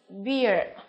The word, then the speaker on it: beard: And D, beard.